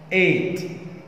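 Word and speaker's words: eight: طب رقم 8 8 8. طبعا جي والاتش سايلنت لا تنطق 8.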